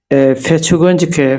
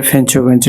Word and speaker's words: ফেঞ্চুগঞ্জ: পরবর্তীতে ফেঞ্চুগঞ্জ কে ফেচুগঞ্জকে ফেঞ্চুগঞ্জ নামে নামকরণ করা হয়। যদিও আমরা ছোটবেলা ফেচুগঞ্জ এর নাম উচ্চারণ করতাম এবং শুদ্ধ ভাষায় এরকম হয়েছে।